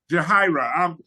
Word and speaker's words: Yahaira: Am I pronouncing your name right? Yahira. Yahira.